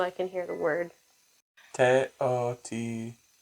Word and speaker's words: Teotihuacan: We're talking about founders of Teotihuacan. Teotihuacan? Or is it Teotihuacan? Teotihuacan. Teotihuacan. I have to watch a 15-second ad just so I can hear the word. Teotihuacan. Teotihuacan. No. What? Teotihuacan.